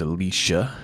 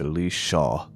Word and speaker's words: Elisha: Alicia means God is salvation and it is pronounced Alicia if you look at it in Hebrew not Elijah's you'll hear many say it it's Ali Shah Alicia which means God is salvation but she